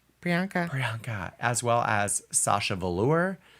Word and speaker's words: Priyanka: Canadian on the show say my name prianka Priyanka as well as Sasha Valour Jada Essence Hall